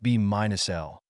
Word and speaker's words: B − L: and comment in particle physics B minus l pronounced B minus L is a quantum number which is the difference